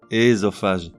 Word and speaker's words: œsophage: Pupille, pupille, qui représente la prononciation la plus correcte mais aujourd'hui rarement usitée. Osciller, osciller. Œsophage, ésophage.